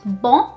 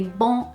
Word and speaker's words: bom: Now, it's not quite bom as in French. I find that a lot of people try and say bom instead of bom.